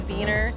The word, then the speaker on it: Wiener: We say wiener dogs, but the German pronunciation would be Wiener.